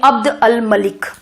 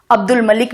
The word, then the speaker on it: अब्द अल मलिक: सामानी साम्राज्य में उस समय अमीर हुआ करते थे अब्द अल मलिक, अब्दुल मलिक भी आप कह लीजिए, हम नॉर्मल बोलचाल की भाषा में ठीक वही शब्द नहीं प्रोनाउंस करते हैं, तो याद रखने के लिए अब्दुल मलिक।